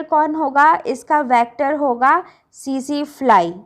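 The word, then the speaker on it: tsetse: इसका वेक्टर होगा सी फ्लाई। जो इसमें टी होता है वो साइलेंट होता है, से फ्लाई पढ़ेंगे।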